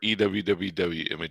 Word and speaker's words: EWWW: you say it shane it's either you image optimizer or ewwwwww okay i'll go for you because it just rolls off the tongue a bit more it does yeah we'll